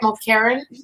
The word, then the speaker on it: Mulkerin: So did I pronounce it right, Mulkerin? You did.